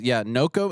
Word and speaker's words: Noko: It's how you say it, Noko? This is Noko, Noko.